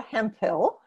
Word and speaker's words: Hemphill: you do okay David thank you I'm Hemphill I am the founder of productive environment Institute